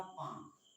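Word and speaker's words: palm: For example अगर मैं बताना चाहूं एम से पहले, तो जैसे मैंने कहा पाम, पी ए एल एम, यहाँ पे एल क्या है, साइलेंट है। इसको पाम नहीं बोलेंगे, इसको बोलेंगे पाम।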